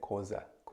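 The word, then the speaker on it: Xhosa: And the tribe is the Kosa people. But if you can't pronounce that, then you can just say Kosa.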